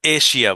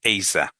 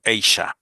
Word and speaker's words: Asia: এশিয়া মহাদেশ, ঠিক আছে, বাংলায় কোনো সমস্যা নেই, কিন্তু ইংরেজিতে না, এটা এশিয়া, ব্রিটিশে, আমেরিকা, কোনোতে এশিয়া না। দেখেন দিয়ে দিচ্ছি, ইউকে তে হচ্ছে এইসা, আর ইউএসএ যেটা আমেরিকান, এইশা, একটা যা একটা শাহ।